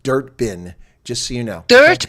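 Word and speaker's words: Durban: audience they know that it is not pronounced Durbin um it's pronounced dirt bin just so you know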